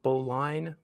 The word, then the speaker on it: bowline: therefore they uh call that sailing on a bowline it's spelled boline but it's pronounced bolin for reasons and wikipedia